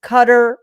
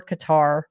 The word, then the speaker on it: Qatar: And before anybody complains about my misprononunciation, it's Qatar or Qatar depending on if you're in America or in Europe.